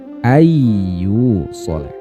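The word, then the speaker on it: أن يوصل: Awalnya an yusolah menjadi ayyu solah. Birunnah dengan didengungkan. Jadi tidak hanya ayyu solah tapi ayyu solah, dengungannya ditahan.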